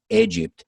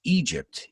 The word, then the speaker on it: Egypt: word by the way a lot of my students mispronounce they say egypt but careful guys it's egypt egypt and uh yeah you've